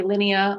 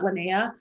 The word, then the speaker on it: Linnea: my name correctly because people say my name wrong all the time and it bothers me when they're calling leads and they say linea or anything but linnea so um i had